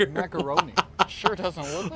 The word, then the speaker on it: macaron: Macaroni inside. It's a You know, I know you guys will probably say it wrong. It's not macaroni. It's a macaron, right?